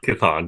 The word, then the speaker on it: Chthon: Am I pronouncing that right? Chthon? Chthon, yes.